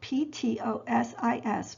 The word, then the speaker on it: ptosis: is referred to as ptosis it's spelled p-t-o-s-i-s but pronounced ptosis drooping of the eyelid